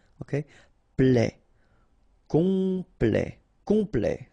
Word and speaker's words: complet: Complet. Complet. And then OM is nasal here, just because you get your P after that. So it's on.